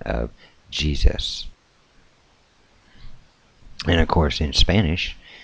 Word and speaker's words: Jesus: At some point, the U in Jesus, came to pronounce as in cut, so the way we say Jesus.